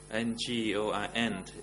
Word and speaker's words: Ngon: My name is Ngon, Ngoin in English.